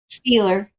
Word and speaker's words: Stieler: say your last name is it Styler Steeler what Steeler steer okay Ste okay there you go spelled different but yeah said like the like the team and um let and